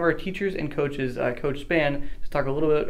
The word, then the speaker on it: Spann: to one of our teachers and coaches coach Spann let's talk a little bit about him and